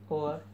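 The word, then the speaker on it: hour: वो साइलेंट होता है, जैसे कि और, इसमें एच साइलेंट है, आवाज़ निकलती है ओ की।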